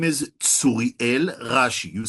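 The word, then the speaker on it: Tsuriel: His name is Suriel Rashi. You spell that T S U R I E L and Rashi like in Rashi.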